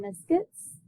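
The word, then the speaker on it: limaçon: 9.2 day three rows curves and that is pronounced liscus we'll do liscus later this is going to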